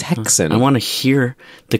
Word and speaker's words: Häxan: i was curious how you pronounce this it's hexan it's it's come on computer no i i just told i've looked it up too it's hexson i want to hear the computer say oh